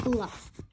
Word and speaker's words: Gluk: His name's not Gluk, it's Gluk. It rhymes with duck.